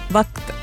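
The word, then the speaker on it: وقت: line ഇവിടെ mark ചെയ്തിട്ടുണ്ടായിരുന്നു because ഉർദുവിൽ വക്ത് സോ വക്ത് അത് ക അല്ല ഇവിടുന്നാ വരേണ്ടേ അതിന്റെ അത് അത്ര ബ്യൂട്ടിഫുൾ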